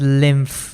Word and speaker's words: lymph: And it's pronounced it's pronounced pronounced as lymph with a with an f over there.